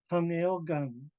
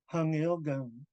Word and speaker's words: hangilgang: The verb here at the end, hangelgang. Before I knew better, I pronounced it the way it looked. Hangelgang, hangelgang. And it's not, it's hangilgang.